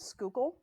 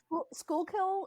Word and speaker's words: Schuylkill: pretty close um so the like generally acceptable pronunciation is Schuylkill oh so close school kill is acceptable people who are from